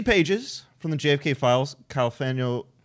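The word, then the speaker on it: Califano: Calfano, is that how you pronounce it? Calfano? Yes, so.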